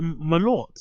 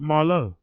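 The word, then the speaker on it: Malört: Josh, keep the You pronounce it Malort. It's not Marlo.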